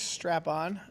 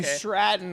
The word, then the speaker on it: Stratton: Uh, Tiffany's Strap on versus Jake Carill. Hey, remember Tiffany's a min. Did I say her name wrong? You did. Oh, Tiffany Stratton.